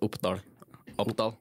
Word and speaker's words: Oppdal: The name of the town is Uppdal. Uppdal. Yeah. And it's spelled like Oppdahl. The AL. Oppdal. DAL. Yeah.